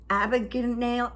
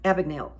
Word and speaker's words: Abagnale: Steven Spielberg did about Frank Abbott Abigail Abigail I can't say his name it's Frank Abagnale well he was the